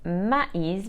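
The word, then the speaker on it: maïs: so we must say de arico con is pronounced ma'is because of the accent called trema on top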